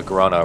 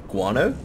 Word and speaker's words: guano: and uh the hell else is it uh Grana or whatever that's all it is guano yeah that's how you say it good [